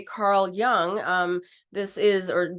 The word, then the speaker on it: Jung: so when we fast forward to say Carl Young um this is or Jung you know however you would like to pronounce that Carl Jung uh basically had a